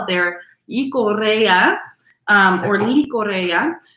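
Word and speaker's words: Llicorella: it their Icorea, or Licorea. It's double L. So I assume in that area, the double L is pronounced with a Y sound, but in all different parts of Spain, you have different pronunciations.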